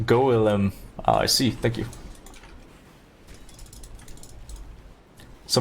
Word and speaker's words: golem: republicans on this one stop saying joel it's pronounced golem i see thank you